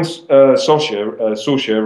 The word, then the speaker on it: Sorsha: And then so when Sorsha rhymes with Porsche, it's...